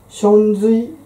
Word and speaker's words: 祥瑞: とも言いますちなみに祥瑞と読むと中国の民への注文によって焼かれた上質の染め付け時期のことを言いますそれでは